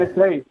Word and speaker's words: Tennessee: you say your name Tennessee Tennessee the same as the state in the U.S I've never heard of